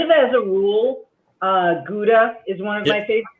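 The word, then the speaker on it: Gouda: that um kind of as a rule uh guda is one of my favorite cheeses and I did some research on it recently for the blog and I found out that it's actually pronounced Howa if you're there okay um and that that's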